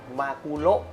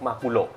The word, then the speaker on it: มากุโระ: คน อ่าน จริง ๆ มัน อ่าน ได้ 2 แบบ แหละ เพราะ มัน เป็น ชื่อ ปลา ของ ญี่ปุ่น ฮะ นะ แต่ ว่า ของ เรา เนี่ย อ่าน ว่า มากูโระ มากุโระ ใน บริษัท ใช่ แต่ ถ้า อ่าน มากุโร ก็ ไม่ ผิด ไม่ ไม่ มี หัก